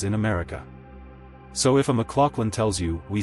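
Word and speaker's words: McLaughlin: Americans often say MC Lolin or MluFin depending on what they've heard. A common pronunciation shown in dictionaries is closer to mck lin with that middle sounding like lock machlin.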